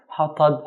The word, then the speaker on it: حطب: a light letter, ta, which is a heavy letter, and a ba, light letter. So we have light, heavy, light. So we have to be very careful and pronounce every single letter with its due right.